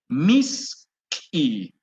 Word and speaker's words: misqui: Ahora, azúcar es misqui, misqui. A ver, con ustedes, ¿cómo se dice azúcar? Misky. A ver, ya muy bien, misqui.